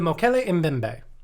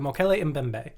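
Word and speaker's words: Mokele-mbembe: phonetics so um sick it's spelled m o k e l e hyphen m b e m b e the mo kelly in bembe uh i you you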